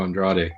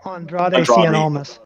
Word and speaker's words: Andrade: the 12th nxt champion was i can't even pronounce that name andre almost oh andrade andrade yeah and the 14th was tommaso champa which